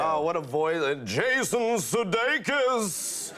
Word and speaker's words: Sudeikis: Is is Sedate, Sudicus?" And I'm like, no, it's actually Sudeikis. "Sue Dickus?" and I'm like, no, that's not that. You're getting further away, Don. Further away, so it's like Sudeikis, and he's just, "all right, Sudeikis." I'm like, that's it, and then he just